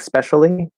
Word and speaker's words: especially: want to say tend we might sometimes drop the e in especially because it's usually just a little schwa sound anyway and it might sound like specially but in writing it